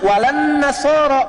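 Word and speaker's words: وَلَا النَّصَارَى: Cuman kita bacanya pakai eh kan alif lamnya syamsiyah tuh ya. Lamnya masuk ke nun. Walan nasara. Padahal itu tulisannya la wala annasara.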